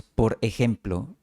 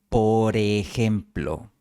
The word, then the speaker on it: por ejemplo: No decimos por ejemplo, sino por ejemplo, moviendo la R a la siguiente palabra.